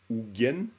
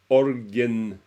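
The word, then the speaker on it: ཨོ་རྒྱན: Quand vous dites Ougen, c'est l'ornement de la tête. Hein? Par exemple, Orgen. Hein, quand on dit orgen, ça c'est une prononciation bizarre du mot Ougen.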